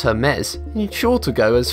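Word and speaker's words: Hermès: Commonly mispronounced as Hermes, Hermes is a French fashion company which deals with extremely high-end commodities.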